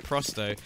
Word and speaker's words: Prosto: yeah the the plus rep for the correct pronunciation of prosto that's only because when I called them Pro